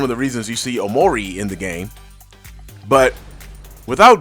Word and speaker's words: Omori: Omorui. See, the announcer always has to make me think that I'm saying the name wrong after I've done some research to find out how to say it. Omori.